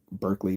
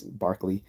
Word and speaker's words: Berkeley: of fact you know most people pronounce it wrong you know like Berkeley but it's Barkley just like David Hume